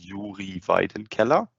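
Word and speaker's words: Yuri Vaidenkeller: to pronounce it uh it's yuri vaiden keller i know very confusing uh first first name slavik the last name is german i don't know what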